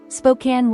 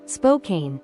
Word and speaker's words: Spokane: have Spokane in Washington you might think it's Spokane right but here's the twist it's actually Spokan think of it like a can of soda Spokan locals have a very